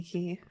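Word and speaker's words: け: have this one here which is k k k just like the letter k um god that makes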